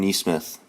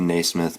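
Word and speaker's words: Nesmith: option here is uh aaron nee smith i believe that's how you say it it could be naysmith but either way that's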